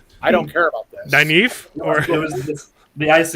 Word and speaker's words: Nynaeve: I'm pretty sure one time you called her Nineveh. Yeah. Like from the Bible. It's better than Nynaeve. Like the city.